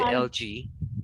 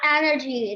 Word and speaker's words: algae: Everybody calls it algae, not Exactly. algae. Algae. Yeah. Algae. Not allergy.